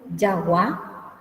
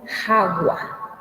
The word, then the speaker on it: jagua: Porque si vamos a leer en castellano va a ser Jagua, pero en guaraní es Yaguá, porque la J se pronuncia como Y, así como diríamos Ya, Ye, Yi, Yo, Yu, Y, ¿sí?